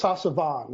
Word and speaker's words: Sasavan: Yeah, I think it's Sasavan. You can say Van. He showed me how to pronounce it.